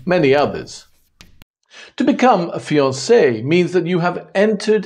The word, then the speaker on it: fiancé: The woman who is engaged is called the fiancé with the extra E, and the man, the fiancé. The pronunciation is the same, although the spelling is not, and you can blame the French for that one.